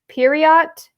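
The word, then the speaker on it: Poirot: So it says, what is the first name of Agatha Christie's famous detective, Inspector Periot? Pretty sure that's how you pronounce it.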